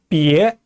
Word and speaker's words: 别: 자, 别 제2성으로 발음합니다.